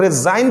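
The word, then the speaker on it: resign: हम लोग रिजाइन पढ़ रहे हैं, जी नहीं पढ़ रहे हैं।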